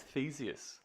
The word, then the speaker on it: Theseus: Oh, I'm gonna say it's Theseus Theseus. because it's like Perseus but with TH.